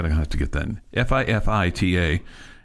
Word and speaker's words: Fifita: have to get that fii ta is how you say his name uh Arizona State not